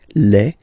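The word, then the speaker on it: les: the plural form okay Le and then same rule you just write L and then you put S at the end but then you don't pronounce it Le so it's quite interesting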